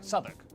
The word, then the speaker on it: Southwark: stir leicester worcester gloucester w at the start of the final syllable is silent norwich beric southwark er is pronounced r